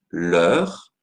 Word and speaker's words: leur: je vais devoir dire leur l'heure c'est la même forme l'eure l'eure mais au pluriel l'heure avec un s la prononciation est identique leur chien leur voiture